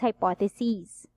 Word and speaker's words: hypotheses: Pero kung dalawa or more, plural niya is hypotheses. Okay, E na yan. Okay, but it's not pronounced as SES, it's C's.